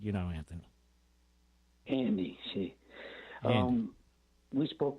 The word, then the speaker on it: Anthony: to say in Philadelphia Anthony the H is silent you know Anthony Andy see um we